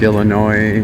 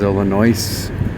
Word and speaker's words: Illinois: foreign foreign other people say dismoines but it's Des Moines just like Illinois versus Illinois but I guess us is silent in some ways picking up recyclable Plastics